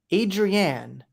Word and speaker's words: Adrienne: Adrienne. Almost like Adriana from The Sopranos, but it just goes Adrienne, not Adriana.